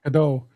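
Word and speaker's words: Godot: And this is pronounced GDO like or or waiting for GDO.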